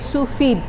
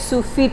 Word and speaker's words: sous vide: satu mode yang namanya sufid dibacanya sufid ya teman-teman ya bukan Sufi karena masih ada huruf e-nya di belakangnya anyway Eh sufit ini